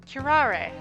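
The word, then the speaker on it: curare: Kirar. Okay. They they they emphasize that last little bit.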